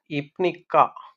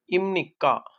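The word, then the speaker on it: 입니까: எனவே நாங்க இம்னிதா, இம்னிக்கா இப்படின்னு சொல்லி நாங்க பூக்கு பதிலாக மு சவுண்டை பயன்படுத்தி தான் நாங்க சொல்ல போறோம்.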